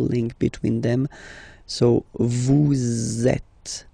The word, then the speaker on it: êtes: Vous êtes. Same thing here. Notice that final S is not pronounced. Et.